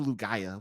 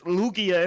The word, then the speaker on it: Lugia: would be like what what is the lugaya what's that or lugia yeah i'm like it's it's lugia and like like i